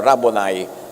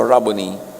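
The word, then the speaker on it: Rabboni: Yung mga Amerikano sasabi nila, "Rabonai." Americanized pronunciation a Hebrew word walang long eye. So rubbony Matthew 289 another kwento.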